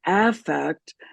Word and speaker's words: affect: in psychological uh terminology it's affect because affect with the emphasis on the first syllable is an emotion and if we uh